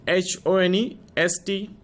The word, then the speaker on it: honest: The word begins with H-O-N-E-S-T, but we pronounce it as honest. Here the word H remains silent.